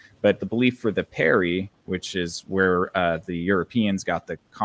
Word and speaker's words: Peri: So there, it's spelled Peri, which sounds a lot like fairy.